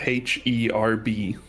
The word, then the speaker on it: herb: Cuber, how do you pronounce the word spelled H E R B? H E R B. Herb. No H. The H is silent.